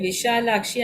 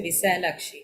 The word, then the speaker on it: Vishalakshi: So I can Annapurne Vishalakshi, I can actually say happily, no? I don't have to say Visalakshi. No. Visha is the correct one.